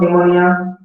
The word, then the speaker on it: pneumonia: Okay, what is the spelling of pneumonia? It begins with N or P. PNEUMONIA. Very good. You know, even if we pronounce the word with sound N, but the spelling begins with P. P is silent.